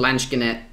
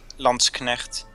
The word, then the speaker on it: Landsknecht: Just the problem with Lanschkenet is, which apparently I'm saying not correctly, is they're slow moving.